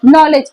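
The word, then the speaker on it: knowledge: कई शब्द होते हैं नॉलेज नॉलेज है नॉलेज में के से शुरू होता है के साइलेंट होता है ना बट होता तो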